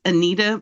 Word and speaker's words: Anita: And the author is Anita Morjani.